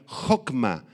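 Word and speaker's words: hokmah: Esta palabra sabiduría hocma con h y acento en la o y con kcma sí es la capacidad de aplicar a nuestras vidas el conocimiento de Dios.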